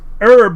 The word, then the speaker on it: herb: No, but the thing is, Chisu, we're the ones who pronounce herb without the H. British people are the ones who say herb with the H.